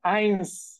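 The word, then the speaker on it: eins: নূল same ভাবে দেখেন ওয়ান ওয়ান কে বলতেছে আইন্স টু টু টু কে বলতেছে সোয়াই সোয়াই এইবার দেখেন জেড এর যে উচ্চারণ হ্যাঁ সেটা আমরা পাইছিলাম সেট এখন দেখেন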